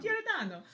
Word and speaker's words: Giordano: Giordano.